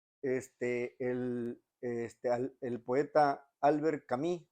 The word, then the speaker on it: Albert Camus: de la literatura este el este el poeta Albert Camí o Albert camus como se le dicen en en español verdad para decirlo en nuestros como lo pronunciaríamos Pero él era él era argelino de